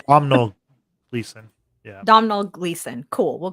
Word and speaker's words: Domhnall Gleeson: Brendan Gleeson's son, who I can't pronounce his name to save my life because it's a very Irish name. Domhnall Gleeson.